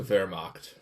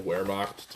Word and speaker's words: Wehrmacht: Let's start with the Wehrmacht. That's the name of the German army. Okay. People call it the Wehrmacht, too. It's spelled Wehrmacht with the W, but in Germany it's pronounced with the V.